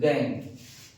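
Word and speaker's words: gangue: इन द ओर इन द ore ores are called are called गैंग गैंग गैंग की spelling देख लीजिए बेटा जी ए एन जी यू ई है गैंग गैंग ठीक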